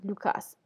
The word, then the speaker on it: Lucas: C'est écrit L-U, mais ça se prononce L-O-U. Et normalement, on devrait prononcer le S dans Cas, Lucas.